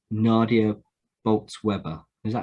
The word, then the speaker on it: Bolz-Weber: Revolution by, let's get the name right, Nadia Bolz-Weber. Is that how you pronounce it, James? Yeah, Bolz-Weber, yeah.